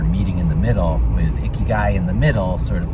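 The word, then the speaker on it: ikigai: way there and it ended up being about icky guy i don't know if i have the pronunciation right and since i shot the video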